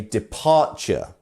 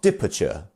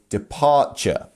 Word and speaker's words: departure: And as we can see here, it's the second syllable that is our stressed syllable. So we say departure, not departure or departure. You see, we say departure.